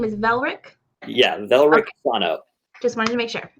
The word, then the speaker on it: Velrik Sano: Just so I'm pronouncing, your character's name is Velrik? Yeah, Velrik Sano.